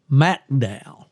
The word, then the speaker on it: McDowell: Yes, sir, but they pronounce it McDowell. McDowell.